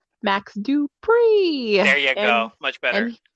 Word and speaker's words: Max Dupree: max dupree and he hey hey hey no max do pre okay you gotta say it right you gotta say it right max dupree there you go much better and he's a